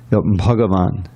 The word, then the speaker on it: bhagavan: like some of them bhagavan you know that's the actual way of pronouncing yes yes and this